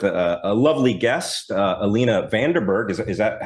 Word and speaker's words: Vandenberghe: We are here with a lovely guest uh Alina Vanderberg. Is is that how we pronounce that?